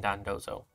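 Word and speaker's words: Dondozo: very cool slight editor no it's pronounced tatsugiri and Don dozo Pokedex is kind of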